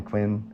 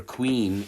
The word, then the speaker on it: Quinn: sure yeah so yeah they called me Elder Quin actually they pronounced my name Elder Queen and so sometimes because